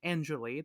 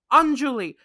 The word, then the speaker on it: Anjulie: Canadian people with saying Anjali that's her stage name why is it in Julie that's not how you pronounce it it's Anjulie I hate it I